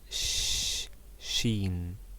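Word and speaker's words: شين: balls above it and it is pronounced like s h in english sheen shh like this she a tail and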